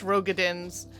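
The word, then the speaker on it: Roegadyn: two playable tribes of rogadense yes rogadence yes i say rogadens the game says rogadins i think rogaden sounds better um welcome to english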